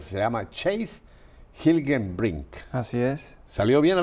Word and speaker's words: Hilgenbrinck: no es latino Así que lo voy a pronunciar se llama Chase gilgame bring Así es salió bien a la primera Sí